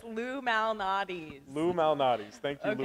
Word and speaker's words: Lou Malnati's: It's Lou Malnati's. Lou Malnati's. Thank you, Lou Okay. Malnati's. How do you And spell it?